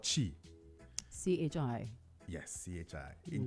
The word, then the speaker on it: chi: uh it means energy in Chinese it's called Chi CH hii yes chi in Japanese it's called